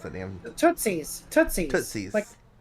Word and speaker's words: Tootsies: How you pronounce that damn? Tootsies.